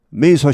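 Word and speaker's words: Mesa: 리블 전 공화당 출신 메이사 시장 이렇게 나오는 거죠 joh 자즈입니다 가즈가 아니고 자즈입니다 여기는 메사가 아니고 메이입니다 그리고 여기 즈죠 가즈가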